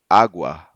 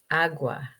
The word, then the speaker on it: agua: cambiar, Then we have ua, pronounced like the wa in wag. wag. Yeah. Cuando, Cuando, agua, agua, cuatro.